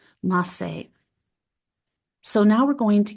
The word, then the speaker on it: Maaseh: The Masay Merkaba is a significant text in the Merkaba tradition, and if you want to look that up, it's spelled Maaseh, Masay.